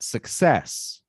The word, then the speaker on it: success: and says okay so the difference in these two words though is that the stressed syllable is the second one in the first word and the first one in the second word so let's repeat success